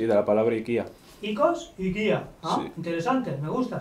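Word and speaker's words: οἰκία: Bueno, nosotros pronunciamos el diptongo omicron iota y, como lo hacen los griegos, vaya, desde hace muchísimos siglos. Aunque hay otros que lo pronuncian oikos o ikia.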